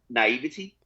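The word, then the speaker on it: naïveté: Now, girl two accepted it because naivete, how it's pronounced.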